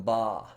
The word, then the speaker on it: bas: we're going to use the term BA that is spelled bas and it's a French term it simply means low relief in French but we're going to